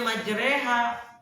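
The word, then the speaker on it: مجراها: Kalau ditanya ini kenapa dibacanya majreha, di tempat lain ro nggak dibaca re, riwayat yang saya dapat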